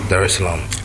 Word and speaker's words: Dar es Salaam: the seventh to come straight to um Tanzania Dar es Salaam did I pronounce that right yeah okay cool Dar es Salaam there's a lamp Okay it's a beautiful uh